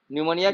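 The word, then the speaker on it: pneumonia: जरिए common cold influence of tuberculosis निमोनिया diarrhoea निमोनिया के spelling कौन बताएगा है तो बता नाम बताओ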